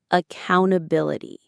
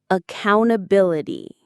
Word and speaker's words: accountability: That word is accountability. Let's say that word together. Get ready? Accountability. Again, accountability. The stress is on that fourth syllable, bill, accountability.